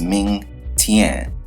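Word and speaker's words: Meng Tian: Now, the Japanese pronunciation is Mouten, and the Chinese pronunciation is Ming Tian.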